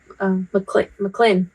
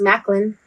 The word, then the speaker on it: McLean: I think they say McLean. Yeah. McLean. They say McLean. Because that's how it's spelled. Yeah. Mm-hmm. They say McLean, but in English it's Macklin.